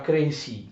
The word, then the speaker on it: Crécy: duramente nella battaglia di Crécy, che si scrive Crécy con questo accento sulla E, però è francese, naturalmente si pronuncia Crécy, d'accordo?